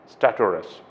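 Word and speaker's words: stertorous: the next word is statorous staturus okay this is how you have to pronounce it staturus and the meaning of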